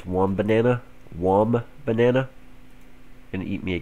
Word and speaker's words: Wombana: I call them one banana. I guess that's actually how you pronounce it, is Wombana.